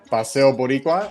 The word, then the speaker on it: Paseo Boricua: beautiful well done uh paseo boricua it's pronounced paseo yes or the puerto rican